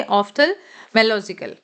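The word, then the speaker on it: ophthalmological: मो नहीं पढ़ेंगे, MO नहीं पढ़ेंगे, ऑफ्थल्मोलॉजिकल, ठीक है।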